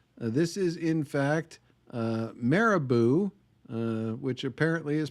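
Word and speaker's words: Marabou: This is in fact uh Maribou, which apparently is pronounced like caribou but with an M.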